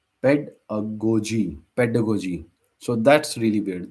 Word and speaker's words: pedagogy: a g o g y and it's called pedagogy so the last thing g y is spelled as g so just like in biology or psychology. So pedalo pedagogy which loses the a but still combines pedos